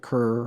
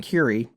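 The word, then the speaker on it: Kure: at a beach called kiri beach it's k-u-r-e i know it sounds like kerr or whatever but it's pronounced curie by all the locals i think it's a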